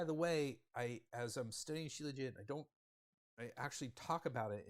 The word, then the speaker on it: Shilajit: it, and I did get a few different pronunciations of this. I think most of them landed on Shilajit, so that's what I'm going with.